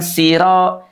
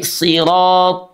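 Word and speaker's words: صراط: Yang kedua, sahabat Al-Qur'an ya, pengucapan huruf ra oke itu harus dibaca dengan sempurna makhrajnya ujung lidah kita dengan langit-langit. Sifatnya dengan suara menebal. Karena huruf roada fathah itu dia dibaca menebal. Tafkhimur ro. Sir sir sir na ah gitu ya. Bukan siro sirathalladzina bukan tapi sirat.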